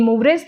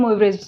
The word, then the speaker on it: Moivre: Okay, इसको मूवरे भी बोल सकते हैं, प्रोनाउंस कर सकते हैं, मूवरेज भी कर सकते हैं।